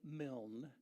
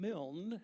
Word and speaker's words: Milne: Milne, which is how he pronounced it. And Milne, or Milne, also happens to be my mother's maiden name.